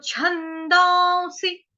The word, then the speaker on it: छन्दांसि: छ कौन सा है, छाते वाला, छ से छाता। कुछ लोग जो होते हैं वो इसको बोल देते हैं शाता। वो शाता कौन सा हो गया, शलगम वाला या शबरी वाला श। लेकिन यहां पर क्या है, छ, च, छ, च, छ, छ, च के बाद जो आता है आपका छ, छ। तो छंदांसी, छंदांसी। अभी छ के ऊपर क्या